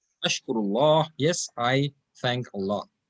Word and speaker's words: الله: So now this Allah will become not Allah, Allah, ushkurillah, because there's a zair which is for it. That's why the pronunciation of Allah will be flat, Allah. In all the other examples, it was Allah.